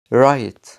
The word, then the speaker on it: right: الحرفين دولت مش بننطقهم في بعض الكلمات زي كلمة night right.